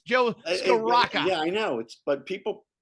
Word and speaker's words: Scrocca: Joe Sunoco. Yeah. Corolla. So there's no L there. It's Joe Scrocca.